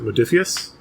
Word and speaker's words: Modiphius: And I think that was an oversight by, was it Modiphius?